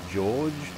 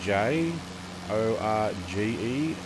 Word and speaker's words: Jorge: I have some Costa Rican friends, and his name is George with a J, O-R-G-E. But his name is Jorge.